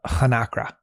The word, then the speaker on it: hnakra: We're about to turn to the Hnakra, a shark-like Beautiful creature.